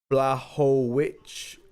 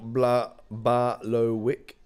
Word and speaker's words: Błachowicz: Ash says, George says, Ash, it's Błachowicz, Wick, not Błachowicz.